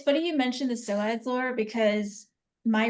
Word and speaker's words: psoas: just gonna say it's a silent P, by the way. Yes. SOAS, there's a PSOAS. P in it? Yeah, there's a Yeah, P it in it. starts Yeah. with a P.